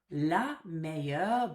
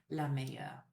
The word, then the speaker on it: meilleure: But it doesn't make any difference to pronunciation here. So le meilleur, la meilleure.